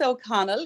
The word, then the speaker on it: O'Connell: don't you introduce yourself with a proper name pronunciation maybe well first of all thanks for having me Katrin and O'Connell is my name you got it pretty good